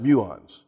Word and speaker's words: muons: what muons are muons they're pronounced muons after a a Greek letter a muon is an